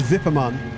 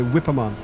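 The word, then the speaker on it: Wippermann: I presume it's Vipperman. It's spelled with a W. So we would say Whipperman. But I guess it's pronounced Vipperman.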